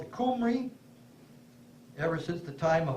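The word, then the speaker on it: Cymru: signs saying C-Y-M-R-Y, and I was calling it Simri, and one of the Welsh people says, that's not how you pronounce it, it's Qumri.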